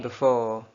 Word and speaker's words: before: Before. Before. बी का थोड़ा सा जेर कम करें, थोड़ा सा ज़बर की तरफ.